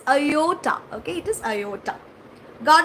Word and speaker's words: iota: I pronounce as Oyota. Okay, it's not Oyota. It is Iota.